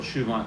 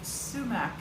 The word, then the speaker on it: sumac: Oh, the AI is looking for shoeac lemonade dresses. Shoeac lemonade. Sumac is how you pronounce it, though.